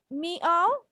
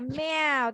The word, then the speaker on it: meow: যেমন হচ্ছে ওরা ম্যাও উচ্চারণকে দে সেড লাইক মিও বা হচ্ছে মিও বলছে বা ম্যাও বলছে, কিন্তু আসলে আমরা কি ক্যাট কিভাবে শব্দ করে ম্যাও, তাই না? So that will be the pronunciation, এবং শারিন সেটা ঠিক বলেছে।